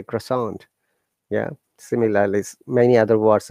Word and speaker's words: croissant: France people say croissant with a through nose, but we don't use nose. Generally say croissant.